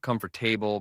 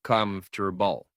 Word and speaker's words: comfortable: One, comfortable, not comfortable, but comfortable to a vegetable, not vague table, but vegetable.